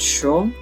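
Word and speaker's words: 書: It's used for the word that means to write, kaki or kaku, sorry. But in this case it's pronounced sho, and it translates to book.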